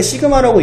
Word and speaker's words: 시그마: 표준편차는 이제 요렇게 쓰는데 읽을 때 시그마라고 읽는데요.